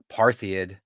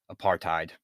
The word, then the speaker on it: apartheid: just on me but i always say apartheid and it's really apartheid so those are some